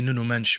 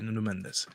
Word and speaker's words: Nuno Mendes: Well, it's really Noo-Noo Mench, but yeah, Nuno Mendes. Uh sorry, that's my Portuguese in me.